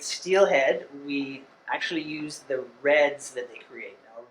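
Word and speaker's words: redd: When we enumerate steelhead, we actually use the reds that they create. Now, red is the nest that the salmon builds in the gravel. That's spelled with 2 Ds, R-E-D-D.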